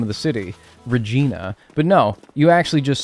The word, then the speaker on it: Regina: Regina, that's true. Yeah. Yeah. Yeah. No, you're right. You're right. What other than that though? Also, is it said Regina or is it rhyme with vagina?